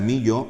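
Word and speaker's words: milho: LH es la L nuestra. Sí. Y se pronuncia millo, mojo, viene del portugués mollo.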